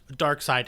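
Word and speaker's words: Darkseid: words is it pronounced is it pronounced dark side or dark seed dark side is yeah got it Adam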